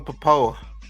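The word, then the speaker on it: Pappoe: Poco, uh, Zav Collins. Yeah. Owen Papo.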